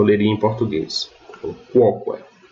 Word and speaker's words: quoque: Então eu vou ler quoque, e não coque, como eu leria em português. Então, quoque.